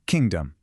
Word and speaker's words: kingdom: For example, take the word kingdom. The stress falls on the very first part of the word.